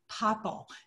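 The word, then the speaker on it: popple: Now, anytime you want to say that, you will instead say paple. It's spelled P O P P L E.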